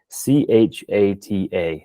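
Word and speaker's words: חטא: It'd be C-H-A-T-A, chata. The CH has a ch sound, sort of that guttural sound in Hebrew.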